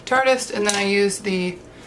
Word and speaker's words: Tarte: used the Tarte tardes some people call it tar deist cuz it's spelled like that but it's Chartist and then I used